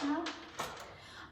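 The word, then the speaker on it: know: No, K is silent.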